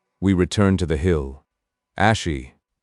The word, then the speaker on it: Ashi: "Ashi." Not Asha, but Ash.